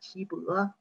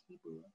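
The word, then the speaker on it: 岐伯: Huang Di's teacher's name, Qi Bo. Usually we talk about the Qi, full pronunciation, and the Chinese character is different. Yeah. This one is Qi, second pronunciation, and a different Chinese characters.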